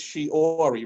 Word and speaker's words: Shiori: it spells all right s-h-i-o-r-i what does that spell which one shorey sure all right so close right so it's shiori right s-h-i-o-r-i shiori okay okay so she gets all